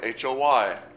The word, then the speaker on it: hoy: And we have hoy, H-O-Y. Remember that the H is silent when we pronounce it.